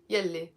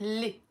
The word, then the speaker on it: يلي: So, but we will pronounce it li.